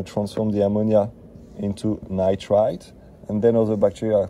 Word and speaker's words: nitrite: We got nitrite or nitrite, sorry, let me pronounce it correctly.